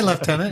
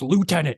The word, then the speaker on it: lieutenant: You guys are going to get you're going to get comments like it's pronounced lieutenant. Yeah. Yeah. I mean, I still don't understand why there's a F in lieutenant.